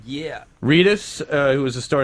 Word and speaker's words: Reedus: a star uh Norman Reedus Reus am I pronouncing that correctly yeah Reedus uh who is a star and Billy Connelly